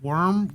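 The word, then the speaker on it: wyrm: way down from a worm worm i always pronounce it do you just pronounce it like warm it's just warm yeah so a worm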